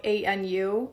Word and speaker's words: Anu: It's literally spelled A N U, Anu.